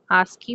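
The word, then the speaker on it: ASCII: Encoding में है आस्की ए एस सी आईआई। इसे हम आस्की प्रोनाउंस करते हैं।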